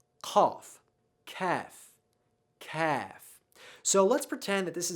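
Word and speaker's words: قاف: So I like to think of this as a little pronunciation diagram, and these 2 dots are your tonsils, and here is your tongue, and it's bunched up in the back, and it's trying to cover your tonsils, and that's how you make this sound.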